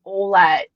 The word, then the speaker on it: Ouellette: It's not Ouellette, it's Olette. It's not Grand Maris, it's Grand Marie.